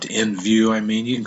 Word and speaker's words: NVU: And this says it's pronounced NU. So you can call it that if you want to. NView, I mean.